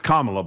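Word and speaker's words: Kamala: It's Kamla, by the way, for a future reference.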